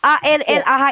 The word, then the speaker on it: Allah: Saya tanya sekali lagi nih, bacaannya mengikuti kaidah bahasa Arab karena itu adalah nama Tuhan dalam bahasa Arab. Baca dulu kalau enggak Allah. Allah karena L-nya double.